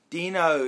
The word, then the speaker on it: Deano: Deano is actually how you spell his name with an O at the end of it, but he pronounced it Dean.